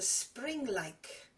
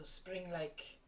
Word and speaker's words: Springleik: The second tune is a Springleik. That's the kind of dance it is. So it's the word spring, and then like is spelled L-E-I-K.